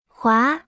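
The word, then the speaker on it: 华: repita en voz alta jua se pronuncia con el segundo tono es una palabra en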